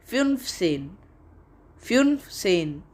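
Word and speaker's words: fünfzehn: h n is 15 in german and its pronunciation is fun fuel sane so we are at the end of this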